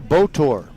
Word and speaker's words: Botor: So that pushes Pena over to second base, and now the number 9 hitter, Daryl Botor. Spelled like motor, but with a B.